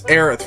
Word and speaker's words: Aerith: ours or Aris it it's Aerith because it's the closest pronunciation I have been looking for me this